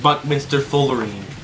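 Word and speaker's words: buckminsterfullerene: The first syllable is buck-min-ster-ful-ler-reen. Oh, Reen? Een, is that last one? Een. So, Buckminster Fullerene.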